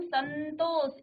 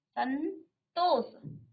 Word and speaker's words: संतोष: और इसमें देखिए संतोष, इसमें क्या आ रहा है, अनुस्वार में ही आधा नौ का उच्चारण आप कर रहे हैं, संतोष।